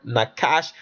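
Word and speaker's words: נחש: It says what is different about this approach is that I view the base word nakash as an adjective not a noun.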